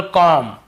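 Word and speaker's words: comb: उच्चारण करते लेकिन देखिए एम के बाद यदि बी है तो हमें बी को नहीं पढ़ना है केवल कॉम यहां पर भी बी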